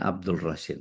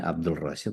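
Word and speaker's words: عبد الرشيد: Tulisannya Abdul Rashid, alif lam ta'rif. Jadi tulisannya Abdul Rashid tapi bacanya Abdul Rashid karena alif lamnya ta'rif samsiah. No, jadi bahas tajudnya.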